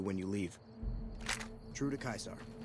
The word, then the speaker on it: Caesar: with this little Quest today by order of kaisar all visitors must disarm and relinquish all Bann items your belongings will be returned to you when you leave true to kaisar it's so funny none of them can really